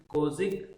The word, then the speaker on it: Kozhik: Friends, if you observe this word, the first 6 letters Kozhik, its pronunciation is similar to logic. Kozik, logic.